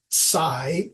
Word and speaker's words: psi: we use that symbol PSI pronounce I pronounce it Sai like when you SI